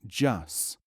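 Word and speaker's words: جس: The word is pronounced jus.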